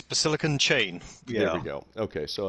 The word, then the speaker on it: BasillicanChain: to get to know him today uh welcome ballistic and chain thank you thanks for having me no problem i think i butchered your name a little bit uh maybe